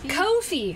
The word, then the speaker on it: Ko-fi: Is that how you say it? Coffee-fee? Cough line? Coffee? Yeah, Kofi. Kofi.